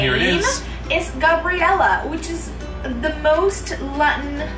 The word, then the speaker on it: Gabriela: Gabriela, that would be the pronunciation.